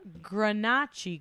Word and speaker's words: Grenache: you know and it's the Grenache Ygritte with the stress on the first vowel which Gail told me